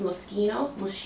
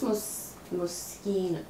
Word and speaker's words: Moschino: This is Moschino. I used to call this Moschino. I think it's Moschino. Oh, yeah, I butcher the names.